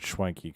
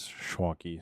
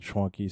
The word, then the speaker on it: Schwanke: So he actually said Schwanky Kong, but the correct Germanic pronunciation is Schwanky. So there will be some people that say it's Schwank, but I've always been told Schwanky.